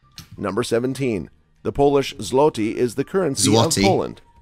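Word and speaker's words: złoty: It does sum up how little people understand the Polish language, because obviously the L with the line is a W sound, and people do not get it right, do they?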